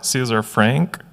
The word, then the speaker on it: César Franck: So, César Franck, or César Franck in English pronunciation, is a composer, a French.